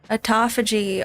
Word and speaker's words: autophagy: Autophagy.